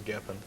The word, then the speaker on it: Geffen: They were on Giffen back then. Is that the right pronunciation? Geffen Records? Giffen. All I know is Geffen.